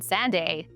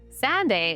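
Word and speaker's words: Sanday: It started with a kid sprinting along a windswept beach on Sande. No, not Sunday. I did say it wrong. Sande is one of Scotland's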